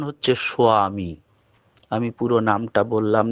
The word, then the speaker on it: স্বামী: দীক্ষাপত্রে লেখা থাকে স্বামী এই স্বামী কিন্তু উচ্চারণ হয় না প্রকৃত উচ্চারণ হচ্ছে সোয়ামী ওটা যাতে কেউ দেখে ফেললেও আসল বীজ নামটা না জানতে পারে তাই অমন করে লেখা থাকে ওর উচ্চারণ হচ্ছে সোয়ামী আমি পুরো নামটা বললাম